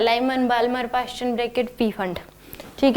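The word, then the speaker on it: Pfund: ये क्या है, बोर के स्टूडेंट है, Lyman, Balmer, Paschen, bracket, P फंड। ठीक है, तो यहाँ पे इसको फुंड सीरीज भी बोलते हैं, मतलब पी साइलेंट होता है।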